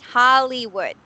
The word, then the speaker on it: Hollywood: Hollywood is actually it's not something that you can say that it's the long short I sound, but it's more on the long E sound because of the Y, Yeah. right? So we don't actually pronounce it as a Y sound, but it's like an E sound, right?